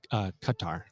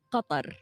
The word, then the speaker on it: Qatar: Talk to me a little bit about Qatar. All right, because how do you say it in Arabic properly for all of us Americans? Qatar.